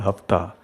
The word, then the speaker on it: hafta: So in India today it's called Hafta because the S is omitted, is silent.